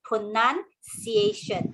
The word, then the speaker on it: pronunciation: This comes from the word pronounce, right? Okay, but you must bear in mind the word pronounce is spelled as N-O-U-N. Okay, that's why when you read pronounce, is pronounced, but here is pronunciation.